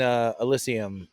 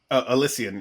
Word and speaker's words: Elysian: There was an Elysium. Is that how you pronounce it? ELY. I mean, it's an AB InBev craft beer brewery now. Elysium. Elysian, yeah.